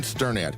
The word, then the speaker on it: Sternad: Hi, I'm Sternad and you pronounce my last name like you are stirring a pot.